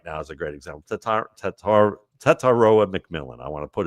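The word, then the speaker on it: Tetairoa: Tataroa McMillan.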